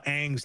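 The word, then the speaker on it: Aang: like he he even screwed up how you pronounce uh Ang's name, right, dude?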